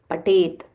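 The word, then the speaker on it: पठेत्: Patet. Patet. Tha Mahaprana.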